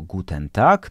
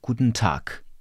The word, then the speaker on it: Guten Tag: które w języku niemieckim nie wymawiamy jako Guten tak tylko jako Guten tak Jaka jest różnica Zobacz Po pierwsze to e wypada w języku mówionym kreska pod n pionowa pokazuje że zjedliśmy ono zostało całkowicie zredukowane i należy mówić po drugie to a jest wymawiane długo ponieważ w języku niemieckim mamy samogłoski długie i krótkie i akurat tutaj mamy doczynienia z długim A czyli mówimy a g na